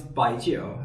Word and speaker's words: baijiu: So, um, it's Bio is the Mandarin way of pronouncing it.